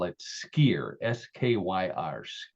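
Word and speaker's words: skyr: call it yogurt in Iceland they call it skier SK KYR skier is how it's pronounced Icelandic which skier is what I said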